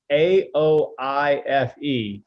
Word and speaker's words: Aoife: And you know, Josh is like AOIFE. That's Aoife. I'm like, what? What happened to the other letters?